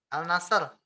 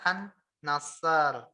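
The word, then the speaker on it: النصر: contoh tadi misalnya eh Al Nasser Al Nasr ya kita bacanya an-nasr contoh lagi misalnya tadinya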